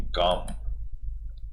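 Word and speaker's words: calm: with everyone bye remaining कम कम का मतलब होता है शांत ल इसमें साइलेंट राहत है इसलिए इसको कम ही बोलते हैं कम के अंदर ल साइलेंट होता है और लविंग प्यार से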